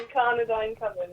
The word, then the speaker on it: Incardinine Coven: Firstly, congratulations for getting the name right. You're one of the first. You're the first one who can actually pronounce it. So. Incardinine Coven, yeah.